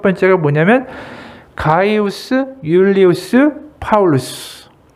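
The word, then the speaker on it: Julius: 제일 먼저 제가 얘기한 가이우스 율리우스 하면 떠오르는 이름이 그 다음에 시저. 시저의 전체 풀네임이 가이우스 율리우스 시저예요. 율리우스라고도 부르고 영어로 하게 되면 이제 줄리우스라고 부르죠. J가 묵음이 되기도 하고 이제 영어에서는 발음이 되니까.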